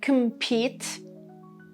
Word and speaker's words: compete: Number 2, compete, compete. The stress is on pete.